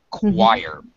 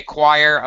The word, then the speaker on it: choir: Um, here we see another a fourth sound qu like a queen. Choir. Very tricky. Ch. Uh, okay. Choir.